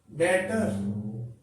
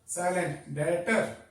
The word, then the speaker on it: debtor: Now, let me remind, this is pronounced as debtor. B is silent, debtor.